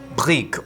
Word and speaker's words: brik: So this is called Bri or spelled like brick.